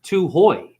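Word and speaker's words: Tūhoe: Two-ho are children of the mist. Oh, I see. Pronounced two-hoy. Like Chips Ahoy or Ahoy Mate.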